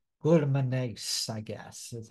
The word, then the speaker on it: glutaminase: All right, glutaminase, I guess, is how you pronounce that.